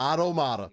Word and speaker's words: Automata: I didn't say Automata. He wants you to say it like automata. Automata. My fault. Yeah, I say it automata.